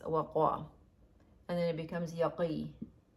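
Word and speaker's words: وقى: So this one is waqa. It's read as waqa. But the root is waw, qaf, and ya, but it's pronounced as waqa.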